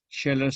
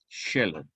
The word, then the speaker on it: Scheler: sido alemanes, Max Scheler, que se escribe con S, Che, y una sola L, porque la doble L en alemán pues, se pronuncia también como si fuera una sola, entonces, pero Scheler se escribe con una sola L, Scheler, S-Che, Scheler, Max Scheler, en su tratado